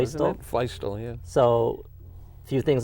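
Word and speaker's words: Feustel: I think it's Feistel, isn't it? Feistel, yeah.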